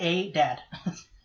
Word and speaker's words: Adad: Basically a dad, but it's pronounced Adad, so that's Adad. Yeah, Adad. Basically, it's like if you were English and pronouncing a dad, Adad.